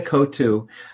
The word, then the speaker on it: Coatue: kosa kotu Refuge frequently yeah we we uh pronounce it c c cada kotu Cascada is one of my favorite places on